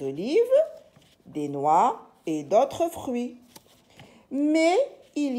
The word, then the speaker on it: fruits: Et, le petit E qui s'écrit ET, d'autres fruits. Alors ici, le T avec le S, on ne le lit pas.